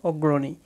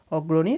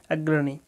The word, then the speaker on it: অগ্রণী: number হচ্ছে আগ্রানী college সেটা হচ্ছে বাংলায় উচ্চারণ করলে হবে অগ্রণী অগ্রণী আর ইংলিশ থেকে উচ্চারণ করলে হচ্ছে কি আগ্রানী কলেজ নয় নাম্বারটা হচ্ছে সুজাউদ্দৌলা